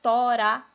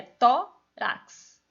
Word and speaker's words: tórax: sílaba só com consoante não é tora é tórax E aí você vai